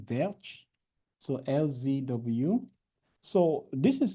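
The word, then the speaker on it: Welch: Think as Dutch, they pronounce W as V, Verch.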